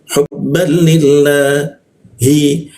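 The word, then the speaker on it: حبا لله: Jadi cara membacanya hubbal li seperti itu, ya. Hubban lillah. Nah, li bertemu lafaz Allah ya. Maka lam bertasdidnya ini dibaca ke arah ad ya. Hubban lillahi.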